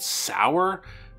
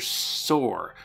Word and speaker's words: Sauer: is taught by mr i think the book wants me to pronounce it sour because all the kids call him sour ball but my brain just keeps reading it as mr soar because of dinosaur we'll go with sour mr sauer has tasked